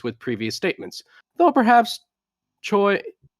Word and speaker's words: Choi: As such, it does seem like this information conflicts with previous statements, though perhaps Choi. Joy God. that's how you pronounce it. It's joy.